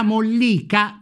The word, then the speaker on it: mollica: LA MOLLICA, mi raccomando l'accento tonico, è invece la parte interna, più chiara e morbida.